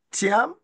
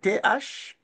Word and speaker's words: Thiam: Et aussi notre recteur de l'université, le professeur Tierno Thiam. Tierno, c'est T-H-I-E-R-N-O. Et Thiam, c'est T-H-I-A-M.